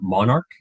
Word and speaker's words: MNRK: pronounce mnrk is uh Monarch okay yeah it's based on the monarch butterfly nice which actually goes